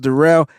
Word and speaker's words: Darrell: spelled like Daryl, looks like Daryl, but it's pronounced Darrell. Darrell Luter Jr.